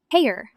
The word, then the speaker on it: Hayer: Brian named him Hayer, which rhymes with the word heir.